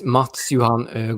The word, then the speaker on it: Mads Johan: what i have put their mask on no pronounce it yourself so my full name is matsuhan good but as my instagram handle as you